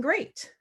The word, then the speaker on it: great: it's a lot that has a long a well a can represent the long age it's like in table right so why not in great and learning oh er